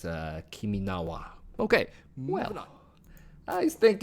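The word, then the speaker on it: 君の名は: Although I believe in Japanese it's Kiminawa.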